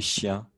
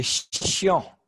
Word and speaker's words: chiant: Il est chien. Ah, il est chiant. Ok, il est chiant. Tu veux dire, like he's annoying, c'est ça, il est chiant? Ouais, très bien, Louise. Bonne prononciation. Bonne écriture.